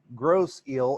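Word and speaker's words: Grosse Ile: See, my mom was from that area, and she would go out to Gross Eel, and everybody called it, instead of Isle, they always pronounced it Eel.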